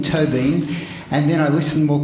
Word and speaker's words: Tóibín: name he said what's toe as in tow and being as in being Toby and then I listen